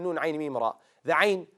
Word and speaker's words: ع: The ayn, how do you say it correctly? You run the sound of the letter for a bit.